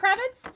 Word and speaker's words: Kravitz: to remind me that there are only two syllables in zoey kravitz it's three syllables total all right i think